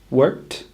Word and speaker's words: worked: Watched is the same as worked. We add a t, not a d. We can imagine the words were spelled W-O-R-K-T, worked, or W-A-T-C-H-T, watched, to help remind us how to say them correctly.